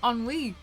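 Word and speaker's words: ennui: we you book readers how do I pronounce this word on we on WE it's just French ah is onwe a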